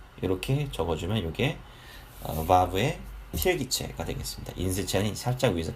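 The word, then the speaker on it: וָו: 여기 V 발음을 가지고 있는데요. vav라고 발음합니다.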